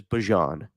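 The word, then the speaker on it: Bijan: that Bejan's name, Bejian Robinson, is Bjon, but for whatever reason, I didn't know that. When when he got to the NFL, everybody started calling him Bejon. I'm like, have I been saying it wrong this whole time?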